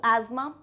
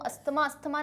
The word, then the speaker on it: asthma: इसको हम usually pronunciation में आपको एक बार बता देती हूँ, अस्थमा नहीं कहते हैं इसको, asthma कहते हैं, ठीक है।